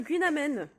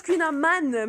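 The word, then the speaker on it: Kouign-amann: je dis, s'il vous plaît, je voudrais un Queen Amen. C'est comme ça qu'on prononce Queen Aman, mais tout le monde dit Aman. Bon, c'est déjà mieux que Amand, Queen Amand.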